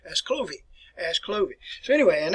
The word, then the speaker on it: Clovis: the french equivalent to louie and so we pronounce it clove is here but i think probably in france you see here it pronounced as clovey as clovey so anyway and that's clovis here